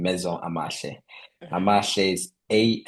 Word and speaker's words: Amahle: Amashe is a m a h l e. Or Amale, as you like to pronounce it.